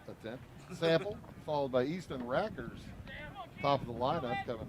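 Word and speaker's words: Rakers: And his name is Rackers, but it's spelled R-A-K-E-R-S, so it's like rake. And he can hit.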